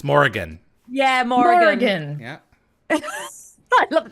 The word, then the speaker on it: Morrigan: Oh, It's Morrigan.